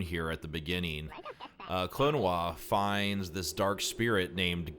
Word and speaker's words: Klonoa: americans probably pronounce this clinoa i know i have most of my life but the actual proper japanese pronunciation of this name is klonois clonawa door to phantom